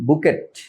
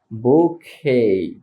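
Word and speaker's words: bouquet: বা নাপটিয়াল বলি যে যাই বলি বাট এটার উচ্চারণ হবে জাস্ট নাপসল নাপসল কি হবে নাপসল নাপসল তারপর আমরা এটাকে বলি বুকেট বুকেট ফুলের তোরা যার বাংলা শব্দ বাংলা অর্থ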